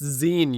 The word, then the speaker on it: zine: It's zine, you moron. Like magazine? God, say it right.